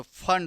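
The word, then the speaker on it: Pfund: जैसे यहां पे देखिए नाना लिखते इसको क्या है पी फंड है लेकिन पढ़ते क्या है पी इसमें साइलेंट होता है तो फंड सीरीज इसका करेक्ट आंसर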